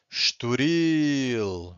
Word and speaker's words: Estoril: If you have a word that ends with an L, if the word ends with an L, you have to stress the final syllable, okay? Universal or individual. This one also ends with an L, so we stress the final syllable. Or estoril, right? So universal means universal, teste means